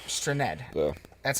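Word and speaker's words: Strnad: Straned.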